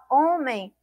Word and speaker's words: homem: hortelã e hortelã perdão esse H ele não apresenta sou então quando a gente fala homem homem apresenta apenas aí o som do Ó helicóptero apresenta aí no